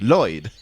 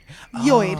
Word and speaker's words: Lloyd: You don't pronounce the first L. It's just Lloyd. Lloyd.